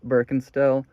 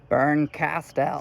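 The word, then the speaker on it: Bernkastel: Quick side note, I know I pronounce Birkenstell's name kind of weird. Shut up. Like, Berncastel. Sounds like such an overemphasis, especially in a sentence.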